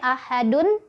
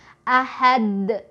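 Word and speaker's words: أحد: ada kata seperti ini ahadun. Ketika berhenti kan dunnya jadi wakaf, jadi mati ya, jadi sukun, maka kita bacanya jadi qalqalah kubro. Ahad, ahad, gitu ya, mantul. Yang salah misal ahad, nggak mantul ya.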